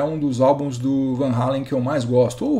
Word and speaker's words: Van Halen: um dos álbuns do Van Halen que eu mais gosto, ou Van Halen, para quem prefere a pronúncia americanizada.